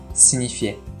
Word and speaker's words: signifié: フランス語の発音はシニフィアン、シニフィエ。